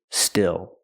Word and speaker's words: still: of metal and the last word is still still use the short I like this is it's a more open Sound I I I still plus the dark L still so when I talk